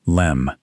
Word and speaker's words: LM: The lunar module, the LM, pronounced LEM, was built by Grumman Aircraft in Bethpage, Long Island, and it was unlike any spacecraft before or since.